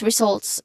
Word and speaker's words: results: So let's start with results which has a two syllable which has two syllables starting with re again re which has a short a sound and then okay so it uses a buzzing sound here.